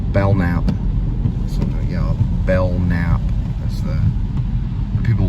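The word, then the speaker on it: Belknap: it between Belt Line it's actually bellnap without the te actually with a b e l k n a p belnap but most people would pronounce it belt naap I don't know why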